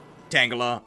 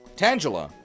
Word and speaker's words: Tangela: We may as well spell it the way I actually say it. Tangela.